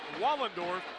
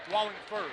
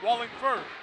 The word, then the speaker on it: Wallingford: And man in the middle, the junior, 6'7", Jake Wallendorf. And 6'2" forward is the junior, Alex Canoyer. Wallingford, that's right, yeah. Not Wallendorf. Wallingford.